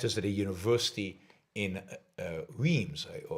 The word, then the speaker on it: Reims: Then I'll rent a car, and the event is at a university in Reims. I don't think that's how you pronounce it, R-E-I-M-S. The French pronunciation is definitely different, but it is in this area at Reims.